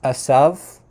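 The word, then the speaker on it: עשו: And then for the name Isa, or in modern Hebrew it's pronounced Asav. So it's a little bit different, but that's probably not how it was pronounced in biblical times. The V at the end was probably more like a W sound, so it probably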